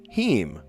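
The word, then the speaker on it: heme: Heem. He. It's spelled H E M E or H A E M.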